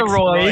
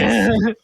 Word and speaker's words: Sirois: Yeah, no, it's Doug just Doug Sirois. Sirois. It has an S at the end.